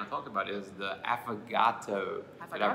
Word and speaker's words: affogato: talked about, is the affogato. Did I pronounce that correctly? It sounds like Mr. Roboto.